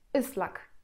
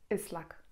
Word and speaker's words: ıslak: I bez kropki i czytamy je zupełnie tak jak polskie Y. I przykładem tutaj będzie słowo ıslak, czyli mokry. Islak.